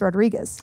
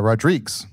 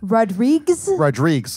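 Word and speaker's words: Rodrigues: your last name was Rodriguez it's h it's actually pronounced uh rodriges because it's the Portuguese version has an S at the end rodriges rodriges like how my D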